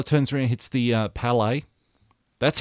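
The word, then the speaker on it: Bálor: then finn balor turns around hits the uh palais that's how his name is actually pronounced michael cole palais not pele palais that's people who actually watch soccer slash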